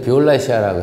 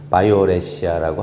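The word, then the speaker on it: violacea: 모르시면 c1913 파딜레아 바이올렛이야 원래는 옛날에는 비올라시아라고 했었는데 정확하게 발음은 바이오레시아라고 하는게 맞다고 합니다 같은데요 뮤즈 fccaos 아시죠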